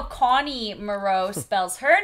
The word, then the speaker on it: Moreau: And he was Moreau. Moreau. Yeah. And yeah. that's how Connie Moreau spells her name.